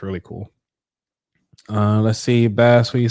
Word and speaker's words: Bass: Say it right because you said bass like the fish.